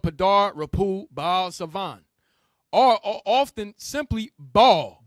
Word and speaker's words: Baal: Because it's not really Baal. We said it that way, but it's really pronounced bull or Baal. That's how you say it, bro.